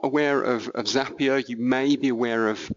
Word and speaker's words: Zapier: I would hope probably a good chunk of people have heard of Zapier. It rhymes with happier.